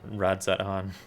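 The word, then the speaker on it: Radz-at-Han: pleased to see you i have not been pronounced pronouncing the z in radzan the entire time then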